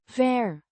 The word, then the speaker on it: weer: weer, Means again, pronounced vair, with a short a, as in apple, and a soft r.